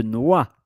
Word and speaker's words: noix: Le lait de noix. Same with the pronunciation.